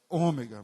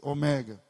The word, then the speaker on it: Ômega: que é o certo porque no Brasil é o o grego não suporta proparoxítona não nenhuma palavra grega começa com a primeira sílaba forte logo não é Ômega mas o mega não é a gato